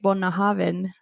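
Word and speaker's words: Bunnahabhain: Gaelic consultant, yes, and he said how to pronounce it, and then also from David. So I've started to say Bunnahaven.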